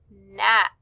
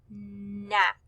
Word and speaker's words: knack: the words not and knack. Both of these words begin with the K N sound, but since the K is silent, we just hear N, not, knack.